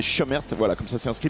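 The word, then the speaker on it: Cömert: se prononce comme ça, c'est écrit Comert, mais il nous a dit lui-même que ça se disait Chemert.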